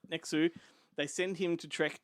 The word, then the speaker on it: Nx!u: His name is NX!U, and that's actually how it's spelled. Nexu.